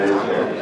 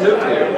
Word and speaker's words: nuclear: not nuclear don't Nu we have no nulear then a president say that someone pronounce it throughout Georgia HW America probably one too it's nuclear it's nuclear yes okay that's a